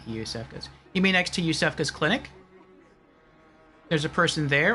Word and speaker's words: Iosefka: And it's Yusefka's clinic. That's how it's pronounced, not Iosefka.